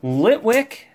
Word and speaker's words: Litwick: we are on Phantom Forces here we go Litwick yep that's right that's how you uh that's